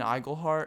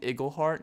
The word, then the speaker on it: Igleheart: uh is this dawson igleheart or no actually they said it wrong they're like hey is this dawson eagleheart i'm like yeah that's